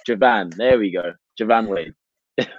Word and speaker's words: Joivan Wade: sure everybody knows in your accent how to pronounce your name. Yes, perfect. So it's Joivan Wade.